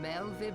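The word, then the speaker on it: Merlwyb: I am Melvib, Melvib. Admiral of Limso Lominsa. WV is Commander Vib, of the or Maelstrom. Vi. It's a V sound.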